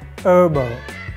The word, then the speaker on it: herbal: word herbal it's wrong native speakers never pronounce h and this example the correct pronunciation is herbal herbal not herbal without